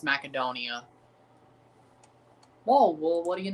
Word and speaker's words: Macedonia: Gretzky actually pronounced Macedonia right when he did the World Cup draw. actually is pronounced macadonia.